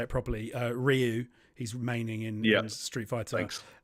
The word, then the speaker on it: Ryu: for your generation I'll say it properly uh Ryu he's remaining in Street Fighter um and uh